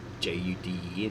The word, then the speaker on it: Juden: Yeah, and it was used in the Middle Ages, etc., referring to these people, the Jews, and the Germans called them Juden, J-U-D-E-N, pronounced as Juden, okay, all Jews.